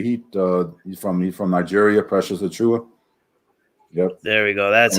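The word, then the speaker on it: Achiuwa: Precious Achua.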